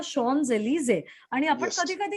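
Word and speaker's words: Champs-Élysées: मधला उच्चार आपण म्हणजे इंग्लिश मधलं स्पेलिंग पाहिलं तर ते होतं चॅम्प्स एलिझीज, पण खरा उच्चार आहे ह्याचा शॉन्स एलिझे.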